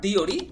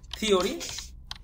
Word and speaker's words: theory: তাহলে প্রথমে THEORE, এটা হবে নট দিওরি, হবে থিওরি।